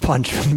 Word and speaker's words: Punch-Man: It's pronounced Punchman, but it's spelled PUNCH-MAN. Hence the confusion.